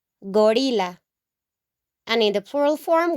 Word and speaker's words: gorila: The only difference is the pronunciation, okay? In Spanish, in the singular form, we're going to say gorila, gorila, gorila.